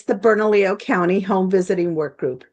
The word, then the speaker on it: Bernalillo: Pronounce the name of your organization properly for me, Maria. It's the Bernalillo County Home Visiting Work Group.